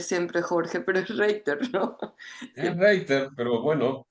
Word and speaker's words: Reitter: Ritter, se me viene Ritter siempre, Jorge, pero es Reiter, ¿no? Es Reiter, pero bueno, se entiende. Jorge O Reiter, Reiter, si querés Reiter, sí, porque esa sería la pronunciación en alemán, pero Ritter no, no va.